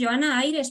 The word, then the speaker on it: Johana Aires: los agradecimientos finales eh Quién es Johana Aires así se pronuncia sí Johana Aires Pues yo Ana Aires